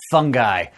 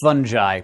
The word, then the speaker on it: fungi: the wonderful world of fungi or fungi both are acceptable pronunciations but I say fungi because it's fungus not